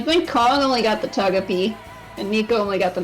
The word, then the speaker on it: Togepi: wrong I would know it if you said Togepi like it's pronounced hey why are you awake man it's